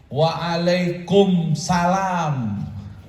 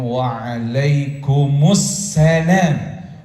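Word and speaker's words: وعليكم السلام: ada orang sono jawabannya waalaikum Salam Yang benar gimana Waalaikumsalam Waalaikumussalam jadi salamnya ada alif lam Jadi sinnya bertasdid dibacanya Waalaikumussalam warahmatullahi wabarakatuh wabarakatuh Insyaallah yang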